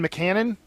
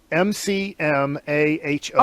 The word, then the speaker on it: McMahon: How would you pronounce that, Kevin? You're great at pronouncing things. I'd say McMahon, maybe. McMahon? There's not a second M in there, is it? M-C-M-A-H-O-N. Oh, yeah, that's McMahon. McMahon. Yeah, like Jim McMahon.